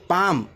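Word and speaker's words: palm: चुकीचं पडलंय उच्चार पहा पी ए एल एम पाम आहे ते दुरुस्त करून घ्या रीडरमध्ये पी ए एल एम पाम पाम म्हणजे हाताचा तळवा पी आय टी सी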